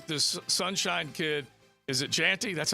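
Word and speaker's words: Jeanty: love uh this this Sunshine kid is it janty that's how we say his name JY Genty all right how about this 95 carries 131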